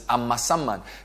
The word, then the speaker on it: Amasaman: I like Amasaman for a reason, because I got the pronunciation of the name correct last week. So it's Amasaman.